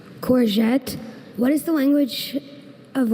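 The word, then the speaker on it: courgette: There's corette and corette. Can you please say the uh alternate pronunciations again? Corette. Corette.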